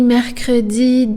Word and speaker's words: mercredi: That's a long one, and it's a hard one because there's lots of R's in it.